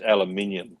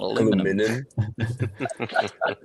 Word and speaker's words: aluminium: And it's aluminium too. Not aluminum.